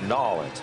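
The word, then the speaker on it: N'awlins: for a salute to, is it Nolens? Nolens. I want to say it the way they know it. It's Nolens, Mark.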